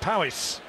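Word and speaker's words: Powys: year seeded number nine here from pristine and Powis I'm told that's the correct pronunciation just over the Wales Hereford should border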